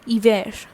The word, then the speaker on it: hiver: For example, if I have to say it without L, I would have said hiver. Hiver. I have not used this H. This is silent.